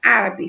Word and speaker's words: árabe: No caso de árabe, olha só, se nós separarmos a palavra árabe, ficamos árabe. Contando do finalzinho para frente da palavra, a gente tem 3 sílabas, sendo que a terceira, né, contando do finalzinho para frente, é a mais forte.